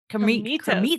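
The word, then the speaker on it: Krimitsos: Pod Talks, and Chris, I always say his last name wrong. I think He it's Kremitos. Kremitos. There we go. Kremitos. Kremitos. It's Greek.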